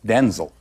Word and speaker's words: Denzel: My name's pronounced Denzel.